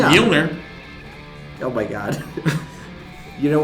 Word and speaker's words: Mjolnir: You pronounced Mjolnir?